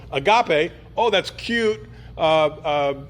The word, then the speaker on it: agape: fine it's fine store it both has a hard G so Agape oh that's cute uh